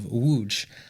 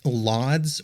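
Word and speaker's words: Łódź: uh in English um that's not how it's pronounced in Poland so I'm going to go with the Polish pronunciation which hopefully I'm pretty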